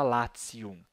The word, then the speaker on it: Latium: escreve em português Lácio em latim se escreve latium né mas se fala latium bom lá no Lácio